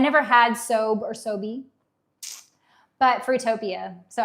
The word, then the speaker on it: SoBe: Sobe. Okay, so it's not like sobe, like robe. Okay, it's Sobe.